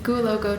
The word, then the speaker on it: Goualougo: You have a relatively new field site, the Goualogo, can you pronounce it for me? Goualogo Triangle.